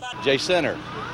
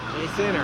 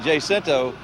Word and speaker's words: Jacinto: J-Center. J-Center, that's Yeah. right. If you say it Jacinto, you're obviously from out of town.